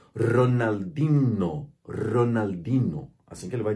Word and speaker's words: Ronaldinho: fala Ronaldinho para ele sem contar que o NH no espanhol é não existe então o h ele desaparece aqui na hora de pronunciar se uma pessoa hispano falante lesse esse nome do jeito que tá escrito sem nunca ter conhecido esse nome ele vai dizer Ronaldinho Ronaldinho assim que